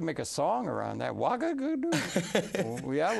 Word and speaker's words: Ouagadougou: Ouagadougou.